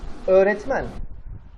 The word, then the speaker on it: öğretmen: You just make the vowel longer and it's perfectly acceptable. Öğretmen.